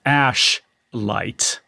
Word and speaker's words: Ashlight: pronounce this correctly because it's very easy to mispronounce this but it's called ash light ash light and it is a granular synth